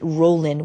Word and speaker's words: rolling: the G so often we pronounce it rolling without the G but of course when you write it you have to write it with the G so yeah um you